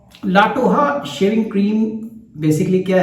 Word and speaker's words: La Toja: Classic legendary shaving cream लाटोहा। सो it's Spanish words, लगता है ऐसा है जैसे लाटोजा, मगर जब मैंने गूगल किया, प्रोनाउंसिएशन किया, तो दे say that it should be pronounced as लाटोहा।